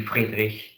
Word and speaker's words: Friedrich: pronounced like that and the name it would be Friedrich with this kind of uh sound you know can you